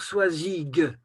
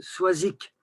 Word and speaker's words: Soizic: ça veut pas dire qu'il faut dire soizig comme on dit par exemple en français la garrigue non on dit quand même soizic et c'est ça qui